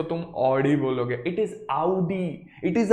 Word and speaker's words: Audi: बात कर रहा है, ऑडी ऑडी सिर्फ इंडिया वाला करता है, इट इज आउडी, ठीक है।